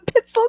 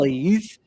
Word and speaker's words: pizzelle: The Americans call them the pizzel cookies or Pizza something. cookies. Like we totally murder the word. Yeah. They are delicious, though. Pizzelles.